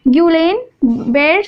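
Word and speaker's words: Guillain-Barré: Neuromuscular disease में पहला example क्या है, गुएन बेर्ड सिंड्रोम, इसको हम ऐसे प्रोनाउंस करते हैं ग्यूलेन बेर्ड सिंड्रोम।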